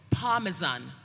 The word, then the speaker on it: parmesan: Your word is parmesan. Parmesan. Parmesan. Parmesan. Please, are there any alternate pronunciations for parmesan?